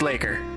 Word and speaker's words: leikr: main body so dirty Laker boy Laker it's pronounced Laker actually the an Old Norse Viking word for